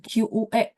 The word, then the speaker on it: 缺: Nah, QUE bacanya harus mulutnya setengah bulat ya.